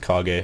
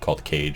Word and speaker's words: Kage: Pretty sure it's pronounced Kage. I don't think it'd be called Cage, because that would be stupid.